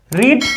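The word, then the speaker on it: read: Being अब verb का third form रीड का थर्ड फॉर्म क्या होता है? रेड। स्पेलिंग वही रहती है। लेकिन पढ़ा क्या जाएगा? रेड।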